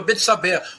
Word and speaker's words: Betsabé: A possui, a violenta, Betsabá, Batsheva, Betsabé, como se quiser pronunciar.